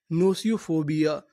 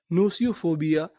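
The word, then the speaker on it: gnosiophobia: नोसियोफोबिया। यानी यहां पर हमें जी का उच्चारण नहीं करना।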